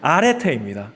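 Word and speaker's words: ἀρετή: 저 은요 자 읽으시면 뭐라고 읽을까요 아 아 아레테입니다 아라고 읽는데 고대 그리스 문학과 철학에서 기본적인 의미는 탁월함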